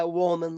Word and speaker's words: Wohlman: Was it it's Wohlman? Is that how you say it? Yeah, Wohlman, like whole man.